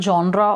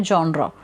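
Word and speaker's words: genre: ये जो वर्ड है इसको इंडिया में जोनर भी प्रोनाउंस किया जाता है जॉन रे पर नाश किया जाता है लेकिन इसकी इंटरनेशनल प्रनंसीएशन है जॉन ड्रॉप तो जॉन यानी की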